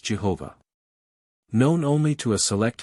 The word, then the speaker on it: Jehovah: It is supposed by some that Yahweh is the proper pronunciation of this word, but as the first